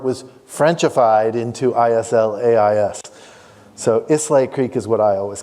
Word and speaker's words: Islais: Now, a lot of people think Islais, which is how it's spelled today, is pronounced Islis, Islayas, Islias.